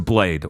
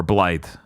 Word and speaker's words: Blaidd: Second place goes to Blade or Blythe from Blythe, TH. TH? It's Welsh. Oh, okay. It's written BLAIDD here. I didn't play the game. That's spelled correctly. It's just, yeah. Okay. It's just Welsh.